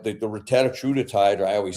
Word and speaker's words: Retatrutide: Retatrutide.